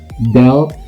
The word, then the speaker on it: dealt: Lalu yang berikutnya ada dealt sama dealt ya. Deal ya, ada t-nya, my bad pronunciation ya, mungkin agak miss ya.